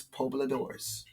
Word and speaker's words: Pobladores: Oh, Pobladores. It's like a Lador, like a Labradors. Okay, so it's Pobladores. Los Pobladores is what they call themselves.